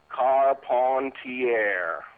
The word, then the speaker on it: Carpentier: man or gorgeous george american fans went to the trouble of pronouncing his name correctly car pontiere um now the one